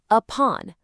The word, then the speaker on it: upon: Now look at upon. The stress is on pawn. So the u at the beginning becomes that exact same lazy schwa sound. upon.